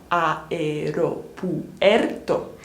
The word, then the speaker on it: aeropuerto: veamos estos ejemplos autobús podéis escuchar que pronunciamos las dos vocales la a y la e a autobús o aeropuerto aeropuerto como podéis ver se pronuncian cada una de estas vocales y por eso es